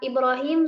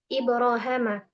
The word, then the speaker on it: إبراهيم: Ibnu Amir membacanya dengan Ibrahama. Dan dalam suhuf Ibrahim juga. Dan selebihnya dalam seluruh Al-Quran dibaca dengan ya, yakni Ibrahim.